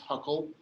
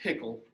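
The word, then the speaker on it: Hückel: by the way huckle is actually technically not pronounced huckle it's german it's actually pronounced pickle but like every single organic student ever always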